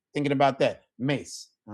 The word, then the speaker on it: mes: No, it's not mess. Mace. Mace. All right. Kind of like mace that you spray. It's kind of like thinking about that mace.